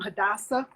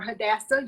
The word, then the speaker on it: Hadassah: familiar with the name Hadassah or Hadassah you can pronounce it either way it's kind of like tomato and tomato or potato and potato